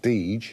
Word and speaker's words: Deger: Jakob Deger came over from Germany in 1855. My great-great-grandfather was also a tailor in London. His son and Mr. Deger's, or now it's pronounced Deege, their two sons got